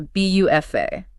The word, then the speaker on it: buffet: So, instead of anchoring the end of the word with a hard stop, it just floats away into an A sound. The dance is B L A, the food station is a B U F A.